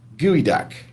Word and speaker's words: geoduck: what is the geoduck despite the name a geoduck is not a duck nor is it a geode in fact it's pronounced like gooey duck Wow do you see